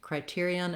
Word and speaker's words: criterion: And typically with second syllable stress words, it's a good idea to practice it from the stressed syllable and then add the first syllable. As soon as I start with criterion, if I start with